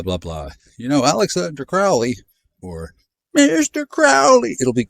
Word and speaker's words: Crowley: Crowley rhymes with holy.